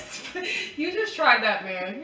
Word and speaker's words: Sven: She said Steven. Who's Steven? Yeah, I forgot Steven. Not Sven. Sven, that's how you pronounce it? She said Steven. His name is Sven.